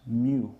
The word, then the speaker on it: mu: first bullet that that symbol there is actually pronounced mu right and it is the coefficient of friction